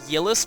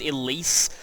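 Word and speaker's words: Ylisse: See, I always pronounced it Yelis, but everyone said that it was Elise.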